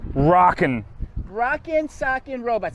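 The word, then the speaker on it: Rock 'Em Sock 'Em Robots: mick one more thing how do you say the name of this that's a great question i would say rockin rock and sock in robots that is correct good job all right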